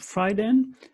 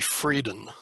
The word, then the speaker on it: Freidin: um hi so yes it's my dutch background and it's a little bit like german and um that's that's